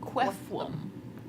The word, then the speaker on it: Quefflum: Quefflum. It's like quaffle, but quefflum.